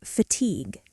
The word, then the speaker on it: fatigue: And one more, fatigue. Fa-tigue. Not fatigue you, just fatigue. French origin, very elegant.